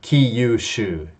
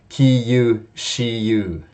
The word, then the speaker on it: Kyushu: And as we know, it's not Kyoto, Kyoto, or Kyushu. Actually, Kyushiyu, okay? It sounds crazy when you say that.